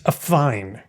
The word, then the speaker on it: affine: And if you do affine, it's actually pronounced affine, I believe. Affine. Affine. Oh, see, look, I didn't even put the emphasis on the right syllable. It's affine.